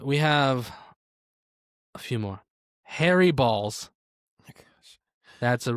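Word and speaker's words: Harry Baals: And to be clear, he himself is the one who said, yes, that is the correct pronunciation of my name. It is literally Harry Balls. It's spelled Baals.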